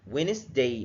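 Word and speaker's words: Wednesday: اللي اتكلمنا زي كلمه وينز ويندا ما بنطقش الدي فيرست دي السايلنت ويندا يعني يوم الاربعاء وينداست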